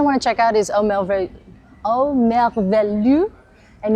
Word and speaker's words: Merveilleux: Can you help me pronounce this correctly? The name? Au Merveilleux de Fred. Oh, Merveilleux.